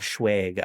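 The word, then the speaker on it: Schweig: And I just want to generally shout out Eric Eric Schwig I believe is how you say Avant is the act name of the man who plays Avanti.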